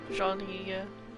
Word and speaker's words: Jean: the room you booked jean okay try to pronounce it correctly the e is uh similar to the italian one surely there we go